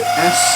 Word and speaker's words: sonokeling: SONOKELING. Sonokelin. I call it Sonokelin.